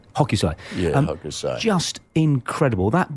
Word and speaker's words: Hokusai: Is the chap who painted the Great Wave, I can never pronounce his name, Hokusai? Hokusai.